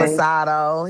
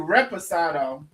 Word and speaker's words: reposado: Resposado. He drinking Hey, some Same. resposado. Resposado. Um, a little Christmas Eve in my cup. Well, it's actually reposado. Oh, reposado. Okay. Good. We both mispronounced it.